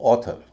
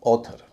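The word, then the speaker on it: author: उच्चारण बात करते हैं जो उसका नॉर्मल उच्चारण है और कुछ शब्द देखते हैं जैसे ऑथर ए यू टी एच ओ आर ऑथर cause C ए यू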